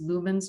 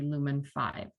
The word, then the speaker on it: Lumen5: a website called lumen5 and i think it's pronounced lumens but it's actually lumen5 and it's such an easy tool to use